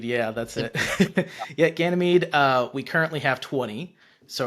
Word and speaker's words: Ganymede: I pronounce that right, or how would you pronounce Ganymede, yeah, that's it? it. Yeah, Ganymede, we currently have 20.